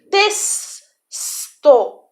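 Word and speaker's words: texto: Por exemplo, testo se escreve com X, mas tem o som de S.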